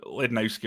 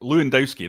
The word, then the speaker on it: Lewandowski: It could be, you know, any striker you name, Lednowski or something like that. Lewandowski, that's how you pronounce it.